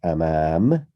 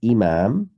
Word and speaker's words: أمام: And now moving on to the words such as amam, not imam. Imam means the leader. Amam means in front.